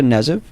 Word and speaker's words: Knezev: one of the co-writers Sasha neive correct is that correct and um K is silento and chain executive producer